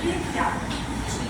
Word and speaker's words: Pichia: Se escribe Pichia, pero ¿cómo se lee la H en latín? A. ¿Cómo se lee la H en latín? A. Entonces ella es Pichia.